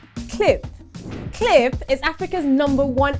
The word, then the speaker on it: Qlip: no no no no it's pronounced cliff and not culip cliff cliff is africa's number